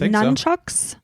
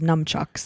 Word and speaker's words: nunchucks: It depends how it's spelled, I guess. And it's spelled with N-U-N. Yeah, so just say none. Nunchucks. Yeah. I always thought it was numchucks. Yeah, I think that's a standard thing. I mean, it's yeah. And you spell it, I think both is acceptable.